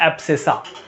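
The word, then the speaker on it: abscissa: बोल दिया जाता है एब्सिसा। क्या बोलते हैं हम इसको? एब्सिसा। यहाँ पे अगर लिखूं तो एक्स एक्सिस को हम बोलते हैं एब सी सा।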